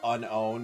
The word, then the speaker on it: Unown: Like, instead of unown, you're saying unknown. I just say it like the word unknown. Like, unknown. Like, double the N, kind of. Up. Okay, so, yeah. See, I know it's technically... It's not spelled like the word unknown, I'm aware.